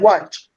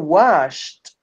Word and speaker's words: watched: Now the past is not washed. It's not washed. It's No. what? Watch. It's Wash it. watched. No, wash it. Wash it. No. Washed. Wash. You have to pronounce with t, with watched, watched.